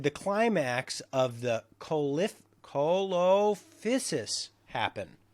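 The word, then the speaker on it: Coelophysis: what period did the climax of The colif colophysis happen cholophysis could you spell that for me yeah c-o-e-l-o-p-h-y-s-i-s oh c-o-e-l okay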